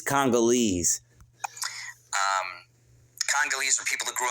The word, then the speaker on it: Congolese: He can't even pronounce it. It's Congolese.